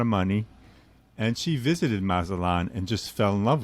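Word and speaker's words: Mazatlán: How do you pronounce Mazatlan? Mazatlan, yeah.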